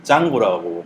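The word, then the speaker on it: Django: 파이썬이 바로 직전에 만들어졌고 또 루비 랭귀지로 만든 프레임워크가 루비 온 레이즈면 파이썬으로 만든 것은 짱고라고 발음을 하더라고요.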